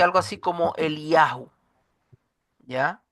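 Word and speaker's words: אליהו: significa e bueno el nombre en hebreo se pronuncia algo así como el yahu ya el yahu Y ese yahu es el nombre de Dios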